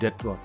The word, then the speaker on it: debt: what is debt somebody's debt nothing it's don't worry about how to spell or anything normally it is called debt B is silent but whatever it is